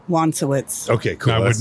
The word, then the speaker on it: Wonsowicz: What's the proper pronunciation of your last name? Wowitz.